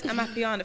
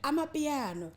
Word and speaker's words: Amapiano: The first time I heard Amapiano, first of all, I didn't even know.